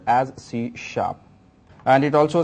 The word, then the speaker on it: C#: is given by Microsoft written as C but pronounced as CSH and it also says C is an objectoriented